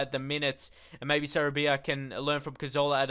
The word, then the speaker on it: Sarabia: And also Pablo Sabaria. Sarabia, that's how we pronounce, I think.